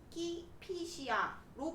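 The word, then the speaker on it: Κηφισιά: 케피시아는 요즘 발음으로 키피시아로 불리는 고장으로 그 이름은 아직도 남아있다.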